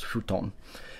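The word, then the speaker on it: ふとん: And once again, you see here that in English, this is written with a F, futon. But in Japanese, we're using the letter from the kana from the H column. So in this case, with the HU, once again, it gets very close to an F sound, so it's futon.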